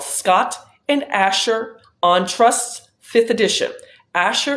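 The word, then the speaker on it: Ascher: is a textbook it is called Scott and Asher on trust's fifth edition Asher is spelled a-s-c-h-e-r uh Scott and Asher on trusts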